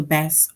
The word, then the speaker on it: bass: rhymes with grass so bass rhymes with grass and as you can